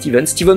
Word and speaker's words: Stephen: Steven, on dit ça s'écrit Stephen, mais je crois qu'on m'a dit ça se dit Steven Walker m'a contacté en me disant qu'il voulait en faire une couverture de Spider-Man.